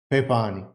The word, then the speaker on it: pepani: you say something wrong you can always say pepani and when you say papani they are going to laugh not because of